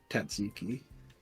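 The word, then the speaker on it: tzatziki: not how it's spelled but it's how it's pronounced it's like t a t z i Ki tsiki alas here we are I am quite full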